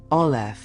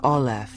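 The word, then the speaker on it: aleph: The first letter of the Hebrew alphabet ol is often associated with air or breath. Phonetically it is a silent glottle stop necessitating an open mouth to produce its initial sound.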